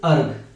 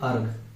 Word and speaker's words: erg: CGS unit of द एनर्जी इज अर्ग. इसको हम लोग क्या बोलते हैं? ईआरजी. इसको हम पढ़ते हैं अर्ग. ठीक है, ये आपका होता है प्रोनाउंसिएशन, इसका करेंगे हम अर्ग.